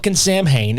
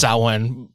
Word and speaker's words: Samhain: you been yeah again s Wayne not Sam Hayne if you want to talk about Sam Hayne go talk about Glen danzig's band Sam Hayne which was probably also actually pronounced saen so yeah so just